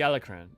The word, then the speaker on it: Alacran: by members of the alacran let's find out it's pronounced it's Spanish I was right the alacran I find that hard